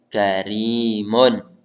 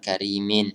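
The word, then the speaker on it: كَرِيمٌ: sebelum ya Coba Abby Karimun ini bacanya Karimun ya bukan gharimin Hai maknanya karena tidak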